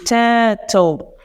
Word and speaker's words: turtle: English pronunciation, is that when a ra sound comes after a vowel sound, it becomes mute. So we don't pronounce ra. So here in the phonetic transcription, we don't either have the ra sound.